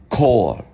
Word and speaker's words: Chor: So the C can be pronounced as a K, like in choir. They would say Chor.